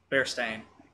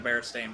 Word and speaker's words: Berenstain: I okay hold on what did they call them in the show bear stain they call them the Bears team it's always it's always been the Berenstain Bears they pronounce it bear esteem okay that's just this